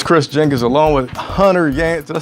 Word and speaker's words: Hunter Yancy: So it's Chris Jenkins along with Hunter Yancy. Did I say it right? Yes, right. Hunter Yancy.